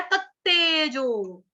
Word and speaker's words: तत्तेजो: यहाँ पे क्या है, तत्तेजो, तत्तेजो, तत्तेजो। तो ऊपर वाले तेजो में प्लस नीचे वाले तेजो में फर्क हो गया ना, डिफरेंस हो गया, बोलने का उच्चारण अलग अलग होगा इनका।